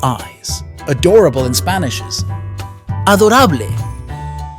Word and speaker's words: adorable: adorable in Spanish is Adora be careful they are spelled the same but pronounced differently we draw its wings